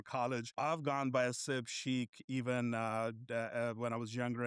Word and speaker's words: Sheikh: of the world, but it's actually pronounced Sheikh. So the ghas and the khas, you don't hear that in the English language.